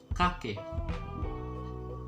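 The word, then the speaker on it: kakek: it is very simple you're going to say ka and then k and then put it put a k on the back so kake even though you didn't pronounce it clearly like cupcake no you don't say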